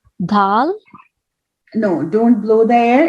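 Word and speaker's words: د: Yeah, so let's see how we will pronounce the dal. Your tip of the tongue, just put your finger here near your lips, okay? And try to lick your finger. And like in this way. Dal.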